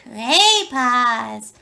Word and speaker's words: Cray Paws: And goodbye from the good art fairy from the land of Cray Paws. Rhymes with Oz.